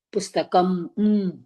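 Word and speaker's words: पुस्तकम्: நல்லா பாருங்க, தனியா வரும் பொழுது when it is a halant, halantனா you pronounce it as புஸ்தகம்.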